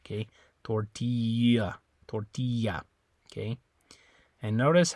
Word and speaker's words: tortilla: the I so in Spanish the I always makes that e sound okay uh so tortilla tortilla the eyes making an e sound also the other thing